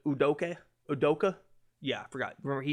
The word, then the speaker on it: Ime Udoka: Ime Udoka, that's how you say it. Udoka?